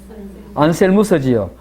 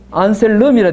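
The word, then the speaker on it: Anselmus: 안셀무스지요. 우리 교과서에는 뭐라 되어 있습니까? 197페이지에 위에서 네 번째 줄에 1093년 누구요? 1093년에 안셀름이라 되어 있죠. 그지? 예. 예. 안셀름 하면 아마 영어식 발음이겠고, 안셀무스 하면 그 동네 발음이겠네요.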